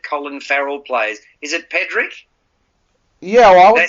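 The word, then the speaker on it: Pádraic: the character that Colin Farrell plays is it Patrick yeah I would say pedrick which is the way that they pronounced it through most of the film but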